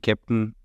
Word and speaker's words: Keptn: production uh cluster and I think Captain you know also as it's um as it's spelled is the German fonetic of the way you pronounce captain in German if people want to